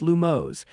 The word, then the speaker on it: Lumos: The incantation is pronounced Lumos, and its wand movement is a rising and falling in a circle.